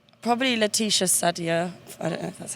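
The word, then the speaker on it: Laetitia Sadier: a cup of coffee with um probably Leticia said yeah that's how you say her name Stereolab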